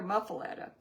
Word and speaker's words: muffuletta: Cuz I've heard it both ways and they pronounce it there muffuletta.